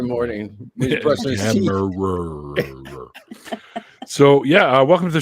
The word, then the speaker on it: Kemmerer: and brother from another mother, and also our guest tonight is Kemmerer. Is that how it's pronounced?